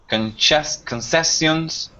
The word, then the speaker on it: concession: offer all of these concessions but no add-ons very good nice and so the C here um the second C and the word concession it's pronounced just like an s ah okay yes yeah